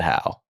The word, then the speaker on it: Howe: Charlie Howe.